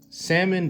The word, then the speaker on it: salmon: Fun fact, salmon does not have, you don't pronounce the L in salmon, but you know, that's your business.